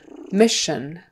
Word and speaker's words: mission: Another SH sound in the middle there, even though it's spelled with an SS, but we still have that, well, it's spelled a little differently, but we have S-I-O-N, mission, mission.